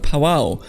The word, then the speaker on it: Pavao: to pronounce it but I think this pronounced powwow so with a very light stress on the V but either way we